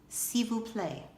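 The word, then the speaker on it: s'il vous plaît: is French this is how you say please see we'll play this is how you say good night bon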